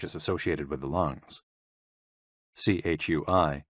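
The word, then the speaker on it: chui: associated with the lungs c-h-u-i pronounced like tree with a forceful exhale which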